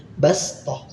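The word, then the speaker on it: بَصْطَةً: Nah, shad sukun diganti dengan sin sukun. Jadi, bacanya basth.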